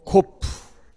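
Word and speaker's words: קוף: 자, 코프는 키읔 발음. 아까 카프가 있었죠? 카프와 코프가 헷갈리시면 안 돼요. 예, 카프가 더 발음이 세요. 예, 얘는 좀 더 발음이 약하고. 예, 그래서 코프. 얘는 코프 하면 되고, 걔는 카프. 얘는 코프, 걔는 카프예요.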